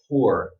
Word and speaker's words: tour: But for me, it's not ooh, it's more of an sound. It's more round. Tour, tourist.